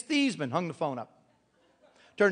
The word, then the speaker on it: Theismann: I'll explain it later he said it's thasan hung the phone up